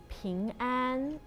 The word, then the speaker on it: 平安: 苹果 is the same pronunciation as 平安.